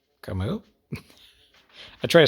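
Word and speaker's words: Camus: pronounced like Kim kemu the S is silent I don't know I'm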